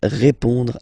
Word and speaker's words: répond: So, final D is not pronounced. You will only have this on nasal sound at the end.